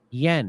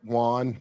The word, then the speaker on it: yuan: Accepting yen. Is that how you say it? No, yuan.